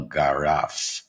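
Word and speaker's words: Garraf: Barcelona backed by the mountainous Park natural Del Gara if I pronounce that right you did thank you you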